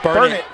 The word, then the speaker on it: Burnet: the eight for the burn burn it I'll say it right burn it Bulldogs burn bulog as